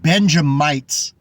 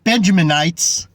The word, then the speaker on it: Benjamite: don't even know that we're called benjamites not benjaminites GMS doesn't even know how to pronounce the most important tribe in the Bible Judah